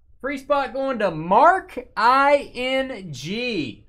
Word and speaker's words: Marking: Free spot going to Mark I-N-G.